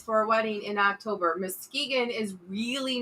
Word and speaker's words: Muskegon: find out where not yet uh he says m-u-s-k-e-g-o-n i don't know how to pronounce that muskegon oh he's over by muskegon yeah that's what he said muskegon why you